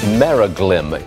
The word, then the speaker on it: Meraglim: Meraglim. Meraglim? Meraglim Holdings. Meraglim. Is that how you pronounce That's it?